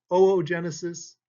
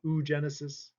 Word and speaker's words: oogenesis: a word on pronunciation this is oogenesis not you Genesis these are all sites